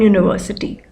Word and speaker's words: university: And yes, if your reasoning was that because university starts from the pronunciation university, which when pronounced is not starting from a vowel sound, okay? It's starting from rather a consonant sound.